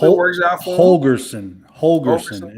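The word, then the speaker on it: Holgorsen: works out for holgerson holgerson is how you say his name yeah yeah it works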